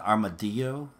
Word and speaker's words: armadillo: armadillo so yeah armored armadillo you know some people pronounce it armadillo like with a why I don't understand that